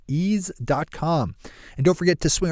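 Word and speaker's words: Eaze: law when you fire up east comm which is spelled e a Z e ease calm and don't forget to swing over to ease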